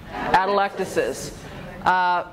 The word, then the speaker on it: atelectasis: about it alright so pronunciation of this word atelectasis say it that electus is was working sunday no